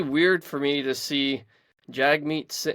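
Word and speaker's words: Jagmeet: for me to see Jag meat or jug meat I guess that he pronounces it I say Jag jug whatever B big Juggy over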